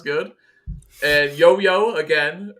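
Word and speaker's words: youyou: cool sounds good and yo-yo again it's spelled like you you if you're y-o-u-y-o-u it's pronounced yo-yo apparently it was a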